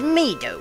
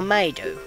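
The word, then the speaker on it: Mido: summon you and not the great medo or maido it depends on how you want to pronounce it this isn't funny i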